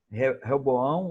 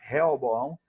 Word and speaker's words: Roboão: Roboão, ou Roboão, tem essas duas pronúncias na Bíblia, né, dependendo da tradução. Um chama Roboão, outro chama Reoboão.